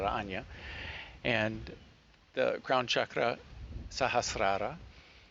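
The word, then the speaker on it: Ajna: Vishuddha; the third eye, Anya or Agya, depending on how you pronounce it. My people call it Anya.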